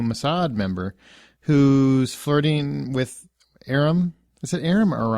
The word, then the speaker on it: Aram: That's the new Mossad member who's flirting with Aram. Is it Aram or Aram? Aram, thank you. I'm horrible with pronunciations in case you haven't noticed.